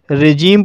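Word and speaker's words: regime: रिजीम, रिजीम शब्द में आई का उच्चारण आई ना होकर के ई हुआ है, इसलिए इसे रिजीम पढ़ा जाता है।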